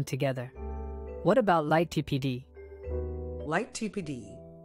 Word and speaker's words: Lighttpd: what about light tpd light tpd pronounced Lighty is interesting it's designed